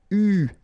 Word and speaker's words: eu: And this is pronounced, so it's an exception because normally you should pronounce it differently, but, so it's an exception. It is pronounced U, okay?